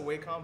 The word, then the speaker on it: Wacom: I pronounce it Wcom, but it's actually pronounced Wackom, but I will never pronounce it.